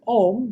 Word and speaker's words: Om: In Sanskrit, A plus U make the O sound. If you combine A and U, mash them up, becomes O. That's why. When you are saying Om, you are saying it correctly.